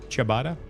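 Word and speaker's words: ciabatta: Chabatada. Chabatada. So yeah, that's Bro, I It's like an Italian word, so it probably has or looking at Julian's pronunciation.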